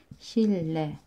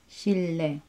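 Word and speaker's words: 실내: So, basahin natin siya as shille. Shille.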